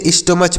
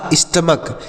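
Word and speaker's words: stomach: एम ए सी एच तो इसे स्टमच पढ़ेंगे ऐसे नहीं इसे स्टमच नहीं पढ़ेंगे तो फिर क्या पढ़ेंगे सर देखिए इसे पढ़ा जाएगा स्टमक eighty O एम ए सी एच इसे स्टमक पढ़ेंगे और स्टमक मतलब क्या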